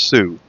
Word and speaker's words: xu: Instead of SU, they spelled it XU, but I guess it's still pronounced sou.